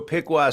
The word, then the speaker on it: Piqua: uh from us so piwa Center for anybody who's doing Audio Only is spelled Pi IQ UA so Piqua Center p i qua